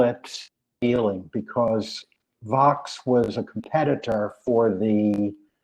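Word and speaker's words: Vaux: found out some something calvert vox rhymes with rocks who knew r.o.c.k.s calvert vox not vogue or vox vox and olmsted from connecticut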